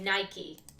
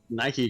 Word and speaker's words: Nike: is like it's like it's pronounced like the shoe brand iik yeah oh okay yeah a I don't know I don't know if they're allowed to use a okay Nike well no no it's